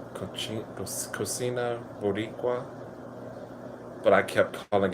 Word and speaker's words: cocina: Yeah, I was pronouncing it cochina accidentally in the video. It is one of I enjoyed that food so much until someone educated me and said it is actually pronounced cocina.